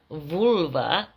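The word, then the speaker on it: völva: So vølva, pronounced in the Old Norse as vølva, or in the Danish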